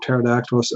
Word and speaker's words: pterodactyl: is hard to spell Pterodactylus also the PT and all the silent P but you know just